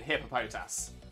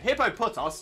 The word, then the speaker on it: Hippopotas: because I think is I can't imagine how else to pronounce it other than hippopotas like I said hippopotos doesn't make any sense uh Nick I was